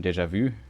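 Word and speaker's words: déjà vu: noticed um how like I have like a deja vu I think that's how it's pronounced in German interestingly we use the more French pronunciation deja vu I think the u sound is very rare in English energizing there is something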